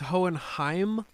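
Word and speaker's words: Hohenheim: I will nitpick this it's hoenheim hoenheim m yes it's very German oh okay I just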